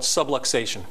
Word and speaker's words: subluxation: call that interference something call it subluxation rhymes with subway station the uh and what chiropractors